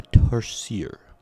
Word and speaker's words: tarsier: And it is the Philippine tarsier. The tarscier. That's how Wikipedia told me to pronounce it.